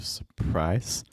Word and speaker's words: surprise: The surprise, stress the second syllable. So instead of the surprise, it'll be the surprise.